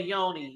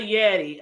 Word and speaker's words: Yeti: that what I said no you say Yoni you it's a Yeti a Yeti might and it's spelled